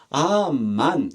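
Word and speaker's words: אָמַן: 번역되어진 히브리어 동사가 아만입니다 우리가 하는 아멘의 히브리어 발음이 아입니다 아만 아 맨의 뜻은 믿습니다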